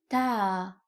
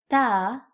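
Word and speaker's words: تاء: Ta is pronounced like the T in English. Ta, ta, ta, ta, ta.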